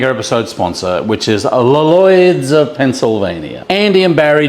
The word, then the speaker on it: Lloyd's: I put on a little bit of a Lloyd's, but it's actually L-L-O-Y-D-S.